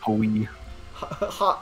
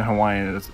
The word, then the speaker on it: Hawaii: Or like when people, because isn't in Hawaiian, the W's are actually V sounds, not W.